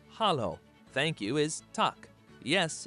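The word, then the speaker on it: Halló: hello in Icelandic is pronounced Hollow thank you is talk yes is yah no is nay goodbye is bless 14.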